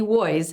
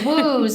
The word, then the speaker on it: Woys: pronounce it was woys yeah what do you what kind of uh errors do people make with your name oh ooze Wows ways one of my best